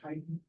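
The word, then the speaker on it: chitin: wall is primarily composed of a Pinacle called kiten it's CI TI it's pronounced kiten that is the key component of the fungal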